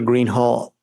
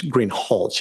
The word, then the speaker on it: Greenhalgh: Officer Greenhall, I believe I'm mispronouncing your name. It's Greenhalgh, isn't it? Correct.